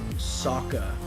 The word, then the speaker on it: Sokka: his name sokka i'm pretty sure they said saka three thousand times in the series it is spelled s-o-k-k-a not s-o-a-k-a and why is his